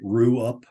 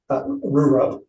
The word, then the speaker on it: Rurup: And did I pronounce that right? Ruup? Rurup. Yes.